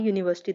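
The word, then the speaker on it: university: तो यूनिवर्सिटी को हम कैसे बोलते हैं? यू। यू मतलब ये स्टार्ट ऐसे होती है। यू आगे यूनिवर्सिटी। तो यू से स्टार्ट होती है। तो यू का जो हमारा मीनिंग है या फिर जो वर्ड बोलें किससे स्टार्ट हो रहा है? वाई से स्टार्ट हो रहा है। वाई क्या है? एक हमारा कॉन्सोनेंट है।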